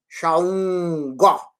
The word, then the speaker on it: Xangô: Então eu vou pronunciar ele, o nome, Xá, Xaungó.